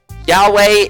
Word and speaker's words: Yahweh: begone thoughts um Yahweh Yahweh basically Yahweh is the closest approximation to the pronunciation of God in Christianity YHVH is